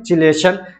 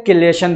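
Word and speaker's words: chelation: है उसको बोलते हैं चिलेशन या क्लेशन दोनों तरीके से इसको प्रोनाउंस किया जाता है ठीक तो ये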